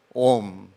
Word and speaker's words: Om: very, very important Ucharan, Om, which consists of 3 syllables, A-U-M, as you all know.